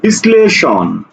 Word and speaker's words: বিশ্লেষণ: দেখো অম্লান, তাহলে ম্লান, অর্থাৎ দ্বিত্ব করে উচ্চারণ হবে। দেখো বলছে বিশ্লেষণ, বিশ্লেষণ, বিশ্লেষণ, এই যে শয়লয়, ঠিক আছে, বিশ্লেষণ।